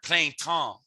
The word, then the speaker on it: printemps: But spring, very French word, printemps. Printemps. So again, that N on the end is a nasally N, printemps.